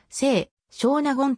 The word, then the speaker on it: 清少納言: 頃の関係から今日では聖書納言と発音されることが圧倒的に多いが上述しているように木吉は父の背少納言は食名が由来であるため本来は背少納言と区切って発音するのが正しい中古 36 9 河川